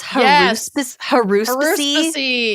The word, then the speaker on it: haruspicy: It's spelled haruspicy, but it's haruspicy.